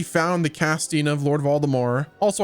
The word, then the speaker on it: Voldemort: Also, I keep saying Lord Voldemort because that's how it's pronounced in the audiobook series and the books. I typically say Voldemort, it's because that's what the movies portrayed, but I do believe it is supposed to be Voldemort.